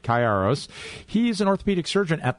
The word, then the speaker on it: Kayiaros: Stephen Chi Chi arroz I've got to get your name pronounced right Karos he's an orthopedic surgeon